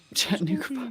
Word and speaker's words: Chattanooga: Chattanooga pa Yeah, you said it right.